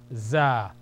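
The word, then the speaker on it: ز: z or zah zah with one dot above zah z z the next one is seen s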